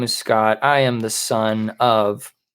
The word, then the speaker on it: Scott: My name is Scott. I am the son of Generation Red Papa Bear. And you can follow me on Twitter at ScottGenRedPod. That is Scott with 2 T's. The second T is silent.